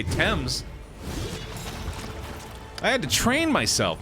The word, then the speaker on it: Thames: way i disagree because themis is incorrect or femmes i would even say that before i'd say thames i had to train